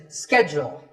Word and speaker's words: schedule: In American English, this is schedule. The first syllable is ske, and the second is jewel, schedule.